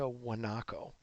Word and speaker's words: guanaco: eat this is a guanaco you spell guanaco with aji but you pronounce it without the G because this is Spanish and this is the